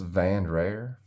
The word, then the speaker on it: Vandrer: out uh the the it's spelled v-a-n-d-r-e-r and it's pronounced van rare so that's that um